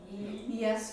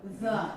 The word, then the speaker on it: ye: Is that a ye? Yes, but it's not pronounced ye. The. The.